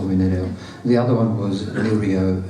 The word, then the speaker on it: Nereo: of my name, because it can be either Nereo or Nereo or Nereo. Now the last one, Nereo, is actually the correct Italian pronunciation, and some of you have even tried to say that.